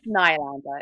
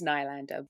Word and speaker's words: Nylander: It's Nylander. It's Nylander.